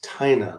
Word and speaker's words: Tina: We've got, it's not, by the way, it's not Tina, it's Tina. Rhymes with China.